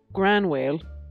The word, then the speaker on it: Gráinne Mhaol: to which Jessica replies groan your whale typically pronounced as gran wailed and more commonly seen